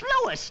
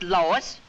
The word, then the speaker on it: Louis: Me name is Louis, not Lois. Chief Whiz, everybody interpolates me name wrong. It's Louis. L-O-U-I-S.